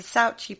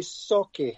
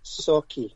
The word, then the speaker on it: Sauchie: new book called the sochi poltergeist have i said that right malcolm um no it's actually sake so if you break up an s-a-w you saw then key k-e-y sake that's just that's how